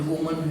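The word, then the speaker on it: women: और भी काफ़ी वर्ड हैं ऐसे, जैसे वुमन है, वुमन भी ऐसे हो जाएगा, क्या हो जाएगा, और प्रोनाउंसिएशन भी चेंज हो जाएगी, क्या हो जाएगी, विमेन।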